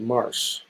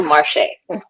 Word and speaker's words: Marché: Next, we're going to have Marché, or is it Marsh? Did I say it right? I don't want to. It's a Marché. So hi, everybody.